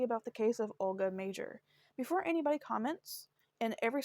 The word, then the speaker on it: Mauger: her name was pronounced major like her last name was pronounced major because when I saw her name was like is it pronounced like MRE maer um I I wasn't